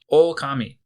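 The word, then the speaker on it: おおかみ: And wolf is okami. Okami is spelled o k a m i.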